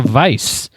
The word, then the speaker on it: Weisz: Yeah, like says to to say it is pronounce. Vice.